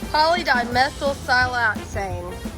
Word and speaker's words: polydimethylsiloxane: say what give up polygon ikkaku this is pronounced polydimethylsiloxane say alright so some of the game is